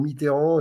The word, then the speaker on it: Mitterrand: Ah, ben c'est comme il y avait ceux qui disaient c'était la prononciation pour Mitterrand, et il y avait ceux qui disaient Mitran.